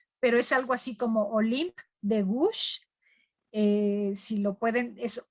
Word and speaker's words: Olympe de Gouges: no sé francés, pero es algo así como Olympe de Gouges. Si lo pueden, es Olympe de Gouges, así se escribe más o menos.